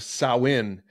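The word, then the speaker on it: Samhain: ancient Celtic Festival of sain now it's pronounced that way but it doesn't read like that it's you spell it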